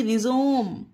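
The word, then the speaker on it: rhizome: से आर एच आई जड ओ एम ई रिजोम इसे पढ़ेंगे रिजोम गाइस इसमें भी हा का प्रोनाउंस यानी ध्वनि नहीं हो रही है और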